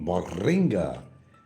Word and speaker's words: moringa: Moringa, I love the name, moringa. But you got to roll your tongue with that. You got to say it right, moringa.